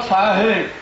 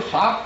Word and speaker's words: साहेब: तब उन्होंने आने का मतलब बताया कि बाबा साहेब, जो हमारे बंधु साहब कहते हैं, ये गलत उच्चारण करते हैं। मेरा निवेदन है साहब न कहें, साहेब कहें, बाबा साहेब।